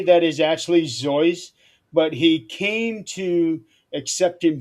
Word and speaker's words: Seuss: But if for people who ask him, he would initially say that is actually Zoyce, but he came to accepting both pronunciations, and over time, that's how it became accepted.